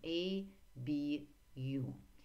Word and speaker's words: ABU: Когда что-то, сокращение какое-то дается в скобочках, можно сказать просто или, or, и по буковкам мы произносим ABU.